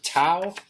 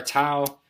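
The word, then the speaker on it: tau: here for torque is the Greek letter toao there's our toao rhymes with cow here's how to draw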